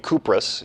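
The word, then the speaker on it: Κύπρος: So in a way, the name Cyprus, the island that still exists today, Kypros is how the Greeks would pronounce it, is actually closely related to real early Greek ideas of the origin of Aphrodite.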